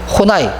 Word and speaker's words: 호나이: 카렌 호나이, 뭐 카렌 혼이라고 하기도 하고, 이 뭐 책에 보면 사람 이름이라 발음이 좀 어려운데요. 뭐 혼이라고 하기도 하고 어떤 책에서는요 또 호나이라고도 합니다. 뭐 저는 막 저도 혼이 호나이 이렇게 막 섞어서 설명을 하는데 일단 교재에서는 호나이라고 했으니까 제가 호나이로 발음을 하겠습니다.